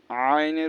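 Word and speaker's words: عين: হয় জাল জাল আর আইনের উচ্চারণ শিখতে হবে গলা কষে আইন বলতে হবে আর কফের উচ্চারণ কফ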